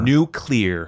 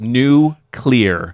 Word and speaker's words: nuclear: we appreciate it yeah it is pronounced new clear nuclear yeah anyway um